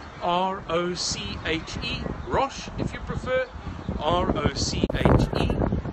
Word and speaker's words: Roche: My name is Simon Roche, and that's spelled like the medicine brand, R-O-C-H-E, Roche, if you prefer, R-O-C-H-E.